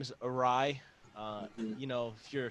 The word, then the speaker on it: Uhraii: my uh my name is awry uh you know if you're filipino awry means